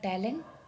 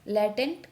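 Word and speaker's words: latent: तो option D हमारा correct हो जाएगा टैलेंट sorry लैटेंट conflict. Sorry मैंने गलत प्रोनाउंसिएशन कर दिया, लैटेंट कन्फ्लिक्ट होता है यहाँ पे।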